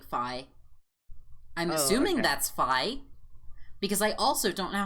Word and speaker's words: Fi: It's pronounced like Fi. I'm assuming that's Fi.